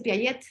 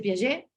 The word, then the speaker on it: Piaget: por ejemplo, para Jean Piaget, no se dice Piaget, se dice Piaget, sin la T, porque los franceses rara vez pronuncian la T al final de las palabras, ¿no?